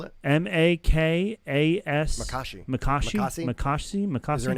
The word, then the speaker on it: Makashi: to defend and everything really well uh makishi spell it m-a-k-a-s makashi makashi and H there is an h m